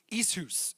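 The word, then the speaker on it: ἰσχύς: word for strength is isus isus isus and it doesn't look like that if you were to spell it out but that is how you would pronounce it isus and it literally means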